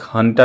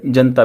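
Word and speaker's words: junta: तो Myanmar military ने जो वहाँ पे एक हंटा भी बोलते हैं इसको, JU को प्रोनाउंस करते हैं इंग्लिश में H, हंटा या जनता भी बोलते हैं, वहाँ पे मिलिट्री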